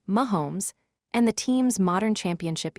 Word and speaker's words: Mahomes: Today, the Chiefs are one of the most valuable franchises in the NFL, especially after the rise of Patrick Mahomes, pronounced Mahomes, and the team's modern championship era.